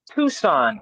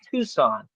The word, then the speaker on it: Tucson: It's pronounced Tucson. I know it I know it looks funny on how it's spelled and how it looks. It's pronounced Tucson.